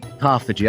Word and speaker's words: autophagy: Autophagy? Autophagy.